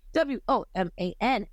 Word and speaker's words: Woman: Moving on is a song I think I like a little bit more than Voodoo, and it is W.O.M.A.N. Woman. It is spelled W.O.